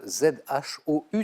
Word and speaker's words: Zhou: De la dynastie chinoise des Zhou. Ça s'écrit Z-H-O-U, ça se prononce Zhou.